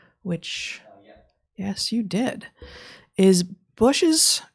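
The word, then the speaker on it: Bossche: yes you did is bushes is it bush or bosh gear vandenbosch yeah yeah zac says he pronounces it is bush's concern about just sounds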